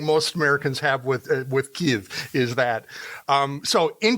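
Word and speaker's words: Kyiv: right now and yes am I pronouncing Kei right because I hear American broadcasters all the time saying it Kev yeah it's ke okay because we have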